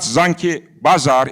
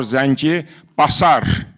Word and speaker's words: Zangi Basar: He mentioned Zanki Basar it's not Zanki Bazar it is Zanki or Zangi Basar Basar not Bazar but of course an Armenian could misspell it or mispronounce it.